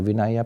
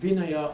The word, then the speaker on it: Vinaya: Should should I pronounce as a Vinaya or Vinaya? No, Vinaya. We. It's okay. You just Because Pali, we pronounce as W.